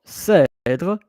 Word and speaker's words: cèdre: Cèdre, it's accent grave. So, et, it's aigu. Et, it's grave. Cèdre. So, because of pronunciation, then you are cèdre, cèdre. Then you have the making the accent grave, else it will be cèdre.